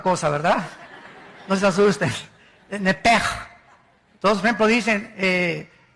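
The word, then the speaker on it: נֶפֶשׁ: La palabra, la letra o las letras sh en del hebreo se pronuncian en hebreo como J.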